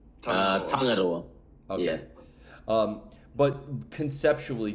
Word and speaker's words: Tangaroa: Weaponry album coming out very soon, which is pronounced Tangaroa. Did I say that correctly? Tangaroa.